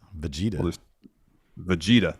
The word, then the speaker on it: Vegeta: The correct pronunciation. Vegeta.